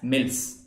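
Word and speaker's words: misl: six and these are known as mills mi sls this is silent okay and earlier this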